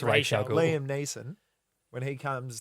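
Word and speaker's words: Ra's al Ghul: And then also when Ra'al Ghul in the first Batman.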